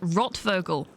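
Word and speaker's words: Rothvogel: you get enough sleep Roth vogle is pronounced rot vogle ah thank you very much grocs and means red bird uh could I just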